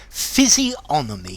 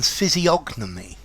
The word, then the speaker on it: physiognomy: hi there students phys onomy physiomer Brit the g is silent however I have heard American physiognomy um with the G